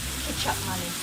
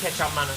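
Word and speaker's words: kecap manis: Kechup Manis. Kechup Manis.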